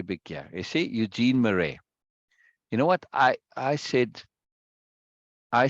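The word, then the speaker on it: Marais: that's his name Eugene Murray it's pronounced Murray right uh the soul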